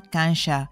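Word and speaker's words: 感謝: para dar las gracias el primero se pronuncia cancha y se compone de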